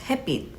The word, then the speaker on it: 햇빛: When you just pronounce this word itself, it just becomes 햇빛. It doesn't really have that ch sound to it, where 빛, meaning